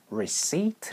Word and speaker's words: receipt: Can I see your receipt? 라고 해서 제가 당신의 영수증을 좀 볼 수 있을까요? 라고 그렇게 물어봤습니다. 영수증이 발음이 좀 독특해서 알아두시면 좋아요.